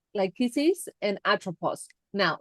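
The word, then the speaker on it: Lachesis: Now this is what I find interesting because he has um like lychesis and atropos. Now lyises do you want to spell that? Leis is l a c h e s i s is a strike 120.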